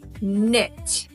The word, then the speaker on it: knit: the kitchen got it the K also can be completely silent and make no sound at all the K is silent